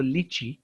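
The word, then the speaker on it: litchi: असतं त्याला आपण म्हणतो लिची इंग्लिश मध्ये पण आणि मराठीत पण त्याचा स्पेलिंग आहे एल आय टी सी एच आय टी सी एच चा उच्चार च होतो कॅच मॅच तसाच च कैरीला आपण ग्रीन मॅंगो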